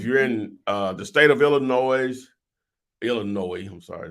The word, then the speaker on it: Illinois: Okay, so depending on the state you're in, if you're in the state of Illinois, I'm sorry, there's no S. There's no sounded S. S is silent. Illinois.